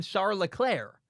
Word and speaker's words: Leclerc: episode where char leclair introduced himself as charles leclerc charles leclerc with a hard c at the end and the charles name mcconnell we all call him shar leclaire i've heard everybody call every time i've ever watched former the one despite how his name is spelled people call him shower leclair and i go huh he wouldn't get his own name wrong why did he introduce himself as charles the clerk i don't know was he